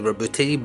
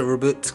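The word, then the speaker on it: Roboute: a whole woman thing it's probably Roberti but I've always pronounced a reboot Gilman so we're just gonna go with that he's a lord of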